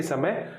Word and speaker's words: स: और ये जो है इसमें आपकी जीभ सबसे बाहर यानी दांत को छूने का प्रयास कर रही है लेकिन छू नहीं पा रही। स, तो ये सबसे बाहर स, फिर उसके बाद थोड़ा सा पीछे श, फिर और पीछे श।